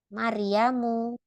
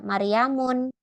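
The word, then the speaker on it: مريمُ: gak boleh ditanwin jadi tidak boleh aminatun gitu enggak boleh yang benar adalah aminatu maryamu tidak maryamun beda ya kalau nama laki-laki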